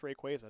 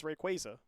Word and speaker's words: Rayquaza: Yeah, I just found out recently that it is actually pronounced Rayquaza. Doesn't that just upset you? Is it really Rayquaza? It's Rayquaza.